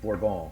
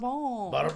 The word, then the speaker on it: Bourbon: So like uh I know purists will probably correct me and say it's it's pronounced borbal. It's like yes. Oh, barb barbone.